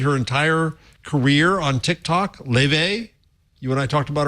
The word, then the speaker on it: Laufey: It's pronounced Leve. It's spelled Laufey, but she is an Icelandic.